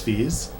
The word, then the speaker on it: Fiz: it under my name is it pronounced fees yeah I'm so sorry for pronouncing it Fizz this no I mean it's it's the Spanish pronunciation that literally no one gets right so okay yeah cuz